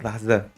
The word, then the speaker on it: Haze: Lucy Haze, not Hayes, but Haze. It's 4 syllables.